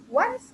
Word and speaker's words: once: read this as once once a bla bla bla together sama-sama Once a bla bla bla Apa si Miss Once Tulisannya On Tapi bacanya Once ya Once ada snya Once a satu kali